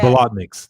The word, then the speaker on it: Bolotniks: Bolotniks, that's right.